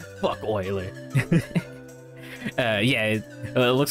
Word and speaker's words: Euler: boiler rolling in his grave oiler uh yeah it looks like his name is euler but it's pronounced euler but anyways the the thing with